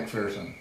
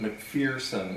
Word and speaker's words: McPherson: i've been doing happens yeah like person technically but i grew up pronouncing pronouncing the incorrect